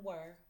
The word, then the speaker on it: were: th says thth then were w e r says ER and the E is silent so showing them a